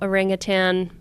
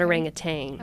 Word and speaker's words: orangutan: So Um so they were doing an evaluation and medical evaluation of this female orangutan. That's how you say it, by the way. It's not orangutang.